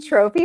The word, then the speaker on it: Tropfy: Trophy Homes is spelled T R O T R O P F Y Y H O M E S. Uh my last name is Tro, so it plays off of my my last name, Trophy.